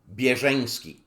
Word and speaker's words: Bierzeński: The correct Polish pronunciation of my surname is Bierzeński.